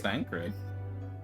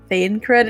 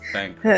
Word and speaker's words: Thancred: do they or mispronounce Thancred? I've heard people say like Thane cred, and I'm like, stop. Let me stop you right there. Yeah, let me correct you So there, help Chief. me. It's Thancred, not So help me Thancred.